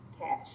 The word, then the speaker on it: cache: speed up subsequent retrievals it is pronounced cash to do this we